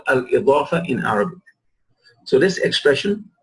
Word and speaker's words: al-Idaafah: The possessive expression is called al-Idaafah in Arabic. So this expression, the second category that we are talking about, right, is al-Idaafah. It is called al-Idaafah. And pronounce the dot properly, right? Al-Idaafah.